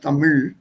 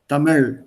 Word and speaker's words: Tamil: way it's pronounced it's that sound doesn't exist in english tamil it's not even there in hindi sound is part